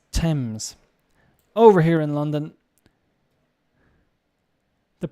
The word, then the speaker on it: Thames: a place uh did i say thames it's thames over here in london the pronunciation woolwich no wolich greenwich greenwich so uh